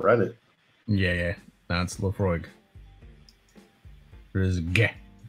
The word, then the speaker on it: Laphroaig: just pure awesome laphroaig are you supposed to say the g i thought the g was silent not slophoriga i mean that's how